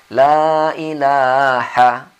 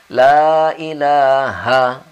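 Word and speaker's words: لا إله: kurang tepat penyebutan tajwidnya yaitu lailaha disini hanya kurang Tebal kurang besar hanya pada kita sering lailaha lailaha disini harus Bang lailaha lailaha Ha lailahail nya kita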